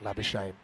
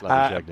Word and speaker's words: Labuschagne: Nems Magazine, a bit like Labuschagne. That's not really how it's said. It's Labuschagne, isn't probably my favourite though,